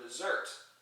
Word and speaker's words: desert: one it's a verb desert so accent on the second syllable that means to abandon to leave to forsake